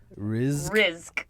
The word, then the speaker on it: Rizk: How do you say her last name again? Rizk. Rizk. Okay. Rizk. With a Z.